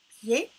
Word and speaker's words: pied: On ne prononce pas le D, yé, pied, pied, io, vio, violent.